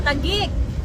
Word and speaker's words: Taguig: Taguig.